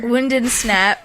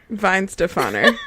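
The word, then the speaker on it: Weihenstephaner: Wind and Snap. Is Yeah. that what she said? Wind and Snap, Wind yeah. and Snap. And what's it actually? How's that pronounced? Weinstefaner.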